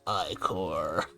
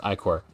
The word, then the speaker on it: ichor: Actually, it's pronounced ichor. Where the fuck did I put my ichor? I will point out that yes, it is, as I understand it, supposed to be pronounced ichor, but also this game has enemies called ichor